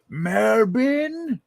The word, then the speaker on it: Melbourne: to me melbourne oh melbourne oh you don't pronounce r it's melbourne marbin actually let me let